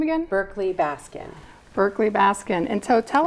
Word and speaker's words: Berkley-Baskin: how do you say your last name again berkeley Baskin Berkeley Baskin and so tell us about Sacramento